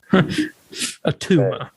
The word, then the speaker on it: Attuma: Street Fighter? No, not Akuma. Atuma. Attuma. Now, he was a character. I knew I recognized that name. I've never read a comic with him, but I was like, Atuma, I've heard that.